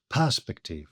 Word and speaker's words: perspective: Firstly, perspective, as you may have noticed, is stressed on the first syllable, perspective, for prosody so that the line scans properly.